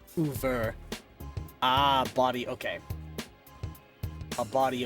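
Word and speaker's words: oeuvre: Body of work but fancy French. Yes. Closer to Uver.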